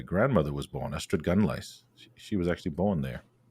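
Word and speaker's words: Ystradgynlais: pronounce yeah well it you've got to sound it out really because it's astrad with to the d and then gun lice and there is an ass at the end of that uh it's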